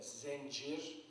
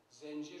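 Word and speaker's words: zəncir: Yine zincir sözcüğü, Azerbaycan Türkçesinde zencir, yalnız buradaki e, veten sözcüğündeki geçen e'dir. Türkiye Türkçesindeki e değil, zencir şeklinde söyleniyor.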